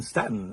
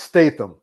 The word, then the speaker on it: Statham: a fan of the first film and Jason Stanton until next time take care and it's pronounced Statham okay it's pronounced State thank you Frank thank